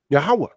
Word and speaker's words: Yahweh: The V wouldn't be there. It will have the Wa sound. The O wouldn't be there. It will have the Ha sound. The E wouldn't be there. See, this is a Yiddish transliteration. Con. The E wouldn't be there. That would be Yah. Ha. That V will have the W sound. Wa. Yahweh. It would be Yahweh.